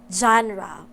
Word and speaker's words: genre: is actually pronounced as genre it is because it comes from a french word spelled and read the same way genre in french this